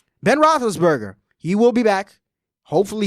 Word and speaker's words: Roethlisberger: Your guy, Big Ben, how you pronounce that? Roethlisberger. Roethlisberger. Ben Roethlisberger.